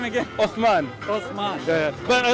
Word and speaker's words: Uthman: Osman. Osman. Yeah. But I like to benefit. Spell it for me.